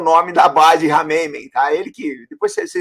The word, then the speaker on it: Khmeimim: Mesmo no mundo árabe, na realidade, eu falo armênio, não falo árabe, mas mesmo no mundo árabe tem algumas diferenças de pronúncia, mas basicamente é Rameymen.